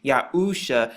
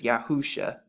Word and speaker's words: Yahusha: characters that's written, and they all make the exact same sounds, Yahusha, and when you put it together, it's Yahusha.